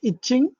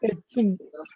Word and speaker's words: etching: Then the layout of the circuit and this is not itching. That is etching.